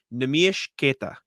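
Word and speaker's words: Neemias Queta: Bobby Manning and I were at his event in Quincy, and Bobby asked him, how do you pronounce your name? Nemish Keita. That is the name.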